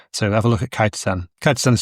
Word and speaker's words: chitosan: So have a look at Kitisan. Kitan is spelled C H I T O S A N. Not some people call it call it Chitteran. I've heard it called shitzan but it's called kactan.